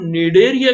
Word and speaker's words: Cnidaria: आप याद रखिए कि इसका नाम जो निडेरिया, यहाँ पर देखिए सी साइलेंट है, यानी सी का प्रोनाउंसिएशन नहीं है, सी को लिखा जाता है पर उसको पढ़ा नहीं जाता।